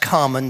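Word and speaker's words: Kármán: The oscillation which you're getting, the wiggle is, I think it's pronounced Carmen, but that's an English pronunciation. I'm sure anybody who's German, or I suspect that's probably, I'm not sure what nationality he was, might have been Czech or something. It's probably pronounced differently.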